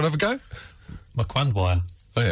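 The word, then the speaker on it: Mkandawire: amongst very specific footballing circles, close brackets, Tamika Wakandwaya. Mkwandwaya. It's a very difficult name to pronounce.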